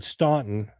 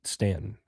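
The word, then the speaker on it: Staunton: somebody was asking for direction, if they said Stuntton, which is what it looks like, they would know that you were from the north and that you were Yankee. So, the South, they pronounce it Stanton.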